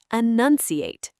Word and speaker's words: enunciate: And notice it shares that same nun sound in the middle as pronunciation.